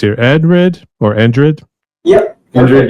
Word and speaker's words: Endrid: Endrid, yep. Okay, so almost like Madrid in a way, but without the MA.